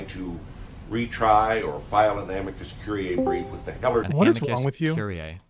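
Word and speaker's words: amicus curiae: The failure of the Justice Department to try to retry or file an Amicus Curier brief with the Heler Curier.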